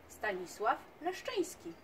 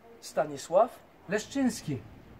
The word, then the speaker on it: Stanisław Leszczyński: Can you tell us how to pronounce Stanisław Leszczyński correctly? Stanisław Leszczyński. Stanisław Leszczyński.